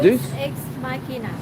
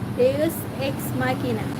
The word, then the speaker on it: Deus Ex Machina: How do you pronounce like the name? Is it Deus Ex Machina. Yeah. And can you say it again, please? Deus Ex Machina.